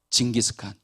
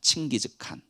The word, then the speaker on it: 칭기즈칸: 징기스칸. 이건 좀 틀린 발음이라고 해요. 원래는 칭기즈칸이라고 합니다. 칭기즈칸.